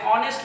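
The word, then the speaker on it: honest: ऑनेस्ट में आपके पास देखिए एच साइलेंट होता है, यहाँ पे ऑनेस्ट आता है इसलिए आपने एन का इस्तेमाल किया।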